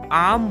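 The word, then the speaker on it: arm: कलाई को इंग्लिश में आम बोलते हैं आम एस आर एम आर इसमें साइलेंट होता है आम ऐसे बोलते हैं और उंगलियों को इंग्लिश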